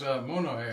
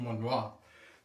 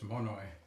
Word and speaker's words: Monoi: And that is Monoy. I I thought I was certain that it would be pronounced Monoa, but it's not. It's Monoy.